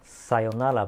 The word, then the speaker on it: sayonara: But actually, this is not the sayonara. Sayonara is the right pronunciation and also the right spelling.